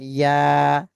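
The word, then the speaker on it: ي: তাহলে শিন যেখান থেকে উচ্চারণ হয়েছে, ইয়া একই জায়গা থেকে উচ্চারণ হবে।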